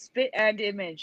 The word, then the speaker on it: spit and image: That yeah, it's spit and image, and that is completely wrong for me. I've never heard it that way. But that is the proper way to say it, and people remember this.